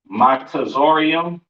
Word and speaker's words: Mizraim: Next we have Mizraim or Mizraim, pronounced Matazorium, which these are today, these are your Egyptians, right?